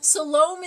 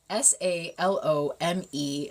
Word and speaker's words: Salome: Like, Salome is okay because phonetically it makes sense. Salome, Salome makes sense phonetically.